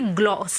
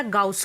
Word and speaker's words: Gauss: देखिए गॉस लॉ जो है, पहली चीज़ तो मैं आपको ये बता दूं कि इसे गॉस लॉ बोला जाए या गाउस लॉ बोला जाए, दोनों करेक्ट हैं।